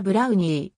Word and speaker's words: ブローニー: 和製英語であるなお発音はブラウニー当時カメラとフィルム